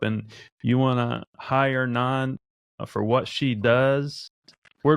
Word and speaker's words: Nan: And you say Nan or not Nan? How do you say it? Yeah. Nan. All right. Yeah. It's short for Nancy. Right? Yeah, it's short for Nancy. So it's NAN.